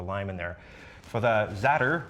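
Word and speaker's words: za'atar: For the zatter, rhymes with platter, that's how I remember that.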